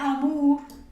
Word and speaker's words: amour: está aquí no sería Amur Amur sino que sería Amur Amur Okay voy a ponerlo aquí amarill entonces puedo simplemente memorizar a todo lo que lleva o u se dice como una u es como si estuviésemos